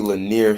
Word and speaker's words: Lanier: west atlanta georgia oh okay so it's 350 lanier street northwest atlanta georgia yeah okay okay okay